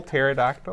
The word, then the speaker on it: pterodactyl: silent hearing you never learned that in school pterodactyl I know what I pterodactyls but I don't